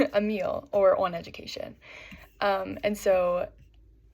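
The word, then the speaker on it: Émile: And so Rousseau outlined a majority of his educational philosophy in his novel, Emily, or I believe it's pronounced Emile, maybe. It's French, Emile, or On Education.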